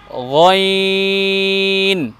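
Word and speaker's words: غين: দেখুন প্রথম বর্ণের উচ্চারণ আইন, দ্বিতীয় বর্ণের উচ্চারণ গইন।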